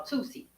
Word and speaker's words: tusi: The peak substance has a name and it's called Tusi. T U Si is how it's spelled. Phonetically, the number two and the letter C used to it's supposed